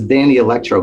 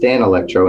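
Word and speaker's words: Danelectro: and that i said what was this danny electro guitar you let me use he goes it's pronounced dan electro and nathan daniels the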